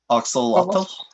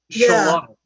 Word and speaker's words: Xolotl: Axolotl. Axolotl. Paul, would you like to? We both looked it up phonetically, and it's Xolotl. It's like an SH or an SCH.